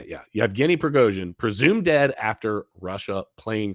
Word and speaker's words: Yevgeny Prigozhin: Wagner chief Yevgeny Prigozhin, that's how you say it. Yeah, Yevgeny Prigozhin, presumed dead after Russia plane crash.